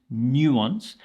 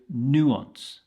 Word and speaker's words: nuance: America you might hear Nuance okay okay so Nuance can you imagine the ne e w new Nuance whereas in America you might hear Nuance so n o o Nuance so same word slightly